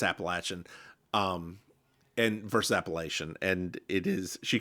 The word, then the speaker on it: Appalachian: So, dear listeners, I want to correct people real quick. You will hear me say Appalachia a lot. You will hear me say Appalachian. That is the proper way to say that word. It is not Appalachia. It's not Appalachian. It's Appalachian. We own the mountains. Get over it.